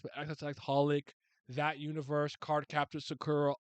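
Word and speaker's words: xxxHOLiC: Um, so I got the clone of Lee Sauron from Subasa Reservoir Chronicles, Holic, or I know you don't pronounce the X, but XX Holic, that universe, Card Captor Sakura, all of that.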